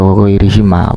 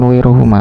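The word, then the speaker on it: وغيرهما: Jadi yang jelas ketika mudhof ilaih dibaca jar maka harus dibaca wa ghairihima, bukan wa ghairuhuma, Pak.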